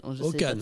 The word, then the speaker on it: Håkan: - Håkan. - On dit Håkan. - C'est écrit Akan, mais on prononce Håkan.